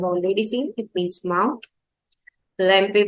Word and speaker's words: lampe: Lampe will be lamp. Yeah, that's lamp only.